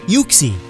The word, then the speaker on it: Uxie: Uxie, as in you and pixie, not Uxie. That's nasty.